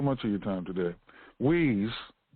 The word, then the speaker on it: Hui: of your time today wheeze and that's spelled h-u-i-h-u-r pronounced way actually not